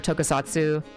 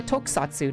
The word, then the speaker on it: Tokusatsu: away from the greater Tokusatsu uh I'm sorry, Tokusatsu. I don't I recently learned that it's pronounced uh Tokusatsu, not Toku Satsu. The U is silent.